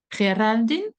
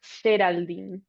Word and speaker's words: Géraldine: Because where you live, it's like Geraldine. No, it's actually Geraldine.